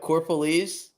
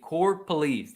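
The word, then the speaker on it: Corropolese: knew how to pronounce it right can you pronounce it correctly for us Tom the Italian Stallion what core police thank you core police there you go but I'm Mike you tried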